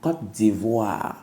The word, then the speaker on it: Côte d'Ivoire: tio s'il te plaît papa prononce bien le nom de ton pays Côte d'Ivoire by the way je